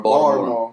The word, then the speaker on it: Baltimore: Baltimore.